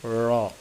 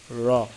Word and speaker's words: র: আছে 10 নম্বর মাখরাজ জিহ্বার আগার পিঠ তার বরাবর উপরে তালুর সঙ্গে লাগাইয়া জিহ্বার আগার পিঠ তার বরাবর উপরে তালুর সংজ্ঞা লাগাইয়া উচ্চারণটা কি র র ঠিক আছে এটা একটু